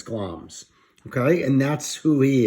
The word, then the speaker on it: Glamis: play, he's the thane of, that word is pronounced Glamis. It looks like Glamis, but it's Glamis.